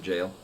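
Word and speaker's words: gaol: Somebody actually did say, yeah, where it's spelled like Gull, but actually pronounced it jail.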